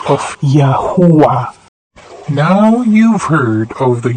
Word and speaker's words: Yahuah: They cry Uwa, not Hova, and not Awe. Ho means to breathe, to be, to exist, come into existence. When the infants cry after their first breath of existence, they say Uwa, Uwa, the last two syllables of Yahuah.